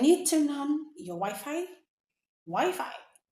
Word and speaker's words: Wi-Fi: Wi-Fi? Don't say wifey.